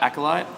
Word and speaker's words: Acolyte: to mhit Morgan thanks Stefan that's how you say it right acolyte that's exactly how you say it nailed it first question who are